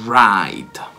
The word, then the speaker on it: write: è quello del verbo scrivere non è to write me write la stessa pronuncia di pride di andare a destra identica